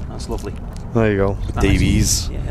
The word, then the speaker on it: Davies: Honestly, my head today I've got to say about I love how you pronounce my surname correctly. Yeah, I know. That's lovely. There you go. Dies.